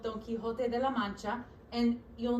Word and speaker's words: Quixote: with an X, but it's still pronounced the same, okay? It's still Quixote.